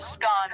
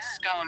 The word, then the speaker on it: scone: the pronunciation of scone both scone rhyming with gone and scone rhyming with bone are accepted pronunciations though Regional variations exist